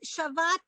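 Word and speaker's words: שָׁבַת: please right okay um it's shavat because it's a verb in that case whereas the word shabbat is a noun i know that's a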